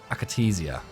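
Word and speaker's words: Akatsiya: We got the 22S3M Akatesia. That's how you pronounce that.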